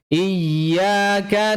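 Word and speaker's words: إيّا: 'Iyyaka na'budu wa iyyaka nasta'in', perhatikan. 'Tasdid' ini, mohon perhatikan, mohon penuhi 'nab' (penekanan). Apa itu? Ya, penekanannya terletak pada 'tasdid' dari huruf 'ya'. 'Iyya', bukan hanya 'iya'. 'Iyya'.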